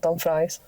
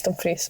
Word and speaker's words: Dumfries: At least he says Dumfries and not Dumfries. Dumfries, yeah, get another one. It's Dumfries.